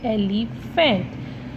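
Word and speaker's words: elephant: P class जो पी है ये साइलेंट होता है, इसलिए इसको क्या पढ़ेंगे? एलिफेंट।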